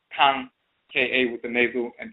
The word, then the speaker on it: Kan: And we say, of course, note that the A in the term Ka, to speak, to pray, is nasalized, so it is therefore Kan, is just spelled with an indicator over the A to denote the nasalization, as we said, or simply spelled K-A-N, Kan.